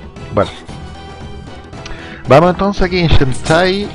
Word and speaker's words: Shantae: Yo le digo Shantai, así lo dicen cuando empieza el juego.